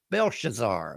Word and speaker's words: Belshazzar: Belshazar. That's how you say it.